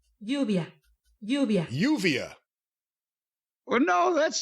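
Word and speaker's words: Lluvia: once it's you and you're calling it first louvia translates to rain so she was her name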